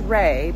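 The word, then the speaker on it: Raey: Caitlyn mentioned this brand I think it's pronounced Rey but it's spelled r-a-e-y I don't think we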